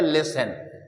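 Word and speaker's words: listen: दोस्तों किसे नहीं पढ़ेंगे टी को नहीं पढ़ेंगे तो ये टी क्या हो गया दोस्तों साइलेंट हो गया हम पढ़ेंगे लिसन ऐसे ही एक वर्ड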